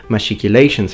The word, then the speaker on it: machicolations: In the first video, link in the description, Matt brings forth the alternative pronunciation machicolations as opposed to machiculation, basing the idea on the modern French tendency of pronouncing the digraph ch as sh.